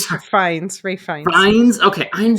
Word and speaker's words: Fiennes: never know how to pronounce his last name. I'm so Rafe sorry. Fiennes, Rafe Fiennes.